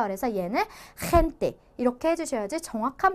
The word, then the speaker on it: gente: 자, 일단은 히읗이니까 얘를 우리가 젠떼라고 읽는 것이 아니라 헨떼라고 읽어줘야지 맞는 건데, 거칠게, 즉 우리가 가르침을 뱉고 싶을 때처럼 목을 이렇게 상처낸다, 긁는다라는 느낌으로 크크 칵칵 하는 소리로 발음을 해주셔야 돼요.